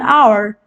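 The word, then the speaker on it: hour: a vowel sound an our an honest person the words our and honest begin with a vowel sound as the initial consonant H is not pronounced similarly an x-ray and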